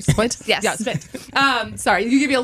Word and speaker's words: Spindt: Yeah, Spindt.